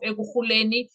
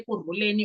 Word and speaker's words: Ekurhuleni: He served as the deputy chief of Ekurhuleni Metropolitan Police Department. Ekurhuleni. I don't know whether they say Ekurhuleni or Ekurhuleni, but in Xhosa it's Ekurhuleni.